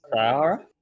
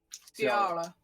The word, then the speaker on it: Tiara: How do you pronounce it? Sarah? Tiara. Tiara. So like Tiara.